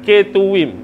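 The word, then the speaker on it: Ketuvim: Dan yang ketiga kh tu adalah K tuwim bukan ketum eh.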